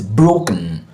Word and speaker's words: broken: So we pronounce this broken, broken, broken, broken.